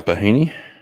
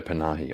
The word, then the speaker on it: Panahi: As usual, we'll default to the lovely Rita Bahini. Panahi. Sorry, Rita Panahi. I always get her name wrong.